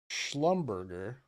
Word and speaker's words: Schlumberger: I don't think that's how it's pronounced, J Fresh. It's pronounced Schlumberger. French company, obviously.